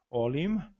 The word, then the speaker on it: olim: Olim se escreve, né, grafado com O-L-I-M, um M bastante pronunciável, final, olim, outrora.